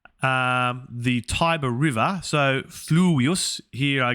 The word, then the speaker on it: Tiber: tibris which i think is referring to the taiba river as we pronounce that in english and it's saying the tiber river so fluids here i guess i suspect